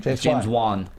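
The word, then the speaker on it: James Wan: scheduling James vaugh uh right that's how you pronounce his name James Juan to uh to come in studio as well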